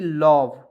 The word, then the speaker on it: love: तो यहाँ देखिए O और E को इसमें साइलेंट करते हैं, L से लव, ही से वह लव, समझ गए बातों को।